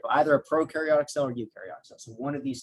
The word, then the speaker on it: eukaryotic: cells this is um eukaryotic uh you pronounce this e-u-s this is pronounced as a u and and this is